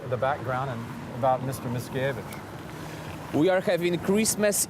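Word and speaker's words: Mickiewicz: important in Polish literature his name is Adam Miscavige right correct yep got it again check me check my pronunciation and this fella is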